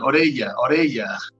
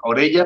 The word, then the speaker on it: Orella: Orella. Sí, pero Pinel. Aquí en España las dobles L's se pronuncia la L, ¿no? Orella Pinel, pero es muy raro de pronunciar, yo entiendo.